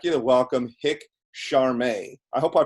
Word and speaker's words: Cheramie: We pronounce it Cheramie, which means like dear friend in French.